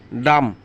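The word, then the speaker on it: dumb: Climb না, claim মানে বি উচ্চারণ লাগবে না। কোম, চিরুনি, কোম, চিরুনি। ডাম, বোবা বা বোকা, ডাম।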